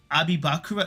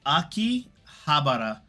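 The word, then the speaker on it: 秋葉原: No, is it pronounced Abibakura? No, it's Aki Habara. I remember it's Aki, fall, ha, flower, and bara.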